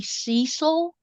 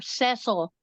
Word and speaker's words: Cecil: I even at this point, when they mispronounced, when Mimi Cecil died and they mispronounced her name as Mimi Cecil, because Oh boy.